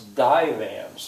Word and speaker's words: divans: It's divans. There's 2 syllables, and the first one is stressed.